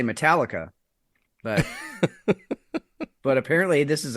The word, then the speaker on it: Metallica: metal heavy metal but we don't say metal icka we say Metallica okay yeah you exactly you put the different emphasis on the different syllable and it's a totally